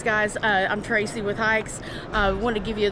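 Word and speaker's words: HAIX: uh I'm Tracy with hikes uh want to give you just a quick brief with it's actually pronounced hikes like you're going hiking are you German footwear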